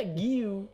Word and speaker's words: Guiu: bacanya Giu.